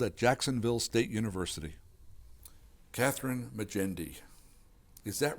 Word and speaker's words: Magendie: I spoke with Kathryn Magendie at the annual literary conference On the Brink, held at Jacksonville State University. Kathryn Magendie, is that right? That's right. And it's pronounced with that nice soft G because why?